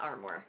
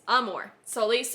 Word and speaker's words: Amor Solis: called arm Amor Solis I was about to pronounce it wrong I have taken Latin for nine years ten years so yeah understandable yeah armor it's not armor it's Amor Solis which Bella what does